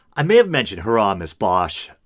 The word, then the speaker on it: Bosch: I may have mentioned Hieronymus Bosch. I think it's supposed to be pronounced Boss, but no one pronounces it that way.